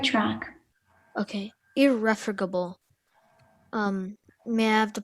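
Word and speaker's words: irrefragable: capable of you're on the right track okay irreformable um may i have the part of speech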